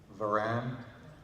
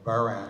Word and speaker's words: Varan: War of the Gargantuas, Varan, or Baran, I guess they pronounce it in Japan, and then Mogera and Mothra, amongst many others.